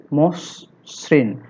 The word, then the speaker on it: মসৃণ: 6, শব্দের আদ্য অ এর পরে রিকার যুক্ত ব্যঞ্জন বর্ণ থাকলে সে অ এর উচ্চারণ সাধারণত ওকারের মতো হয়। এই অটা ও তে রূপান্তরিত হওয়াকে সংবৃত নিয়ম বলা হয়।